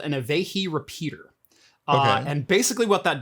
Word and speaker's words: Avahi: Yeah, Avehi, AVAHI. I have never heard anybody pronounce that before, so that's fascinating.